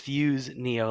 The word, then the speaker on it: Fuseneo: pronunciation under the sun, but it is Fuseneo, like 2 words.